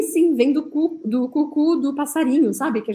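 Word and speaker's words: coucou: Depois a gente tem o cucu, cucu. Se escreve C-O-U, C-O-U, porque a letra O com a letra U em francês sempre vai ter um som de U. Então a gente fala cucu, cucu.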